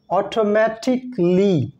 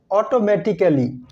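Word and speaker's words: automatically: লেটারটির নাম হচ্ছে এই এই লেটারের পরে যদি ডাবল এল ওয়াই থাকে থাকে তাহলে এই লেটারটি সাইলেন্ট থাকে যেমন অটোমেটিকলি নট অটোমেটিক্যালি অটোমেটিকলি এই ওয়ার্ডটিকে আমরা বলে থাকি বেসিক্যালি নট বেসিক্যালি বেসিকলি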